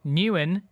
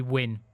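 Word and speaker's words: Nguyen: It has just gone 5 o'clock, and thank you so much to everybody calling me out for my pronunciations for the word Newen and what should be win.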